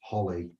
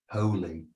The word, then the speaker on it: holy: What does holly? Holy, H-O-L-Y, holy, not holly.